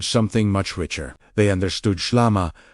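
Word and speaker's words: ܫܠܡܐ: They understood SHLAMA, pronounced SHLAMA, wholeness, completeness, harmony with God, not as passive tranquility, but as the active restoration of creation itself.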